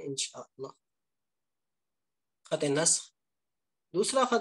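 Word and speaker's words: نسخ: बात यह है कि आपने इसको क्या प्रोनाउंस करना है, नस्ख। बाद हजात इसे नसख भी कहते हैं जो कि गलत है, तो इसे आपने नसख नहीं कहना, नस्ख कहना है।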